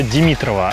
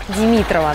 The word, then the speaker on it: Димитрова: Бухта Димитрова – одно из самых красивых мест на этом острове. Димитрова, да? Только не говори об этом местным, потому что они называют эту бухту Димитрова.